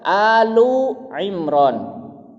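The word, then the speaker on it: آل عمران: Tapi kalau tidak menggunakan kata surah maka dibacanya dalam bahasa Arab Alu Imran. Alu. Karena alu di sini adalah berarti family, keluarga.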